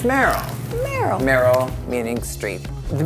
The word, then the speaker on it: Meryl: famous person worked on which rhymes with cheryl and it's merrell merrell merrell meaning street